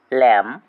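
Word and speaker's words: lamb: উচ্চারণ হবে কম এল এম বি ল্যাম সি এ এস টি এল E castle এখানে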